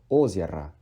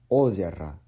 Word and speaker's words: озеро: pronounce O once, and the O at the back of the word is being de-stressed as A. So it's озеро, озеро, not озеро.